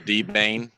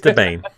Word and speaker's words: Debian: choose the D-Bane? Yeah. The good news, Thomas, is you no longer have the worst pronunciation for Debian.